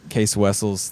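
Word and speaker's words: Cees Wessels: So, it's there's, you know, it's Dave and I think Case Wessles, the original founder of Roadrunner, that's how you say his name.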